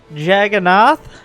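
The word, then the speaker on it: Jagannatha: the players the map the way you're supposed to pronounce is like jagannath but the a at the end is because it's like a indian word in fact it's like the indian word that is uh eventually in english was ends up as juggernaut or something like that uh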